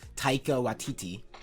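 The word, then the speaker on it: Taika Waititi: the director of love of ragnarok um uh taika watiti yeah um right it seems like he's the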